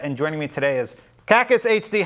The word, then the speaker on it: KackisHD: a different set and joining me today is caucus HD how do you say your name Ric caucus